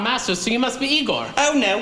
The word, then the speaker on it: Igor: Ah, Master, so you must be Igor. Oh, no, it's pronounced Igor.